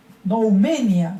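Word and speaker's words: νουμηνία: está utilizando el término, tiene un acento en la I, noumena, ¿sí? Se lee así esa expresión, este término que está aquí en griego, acento en la I, noumenia, ¿sí?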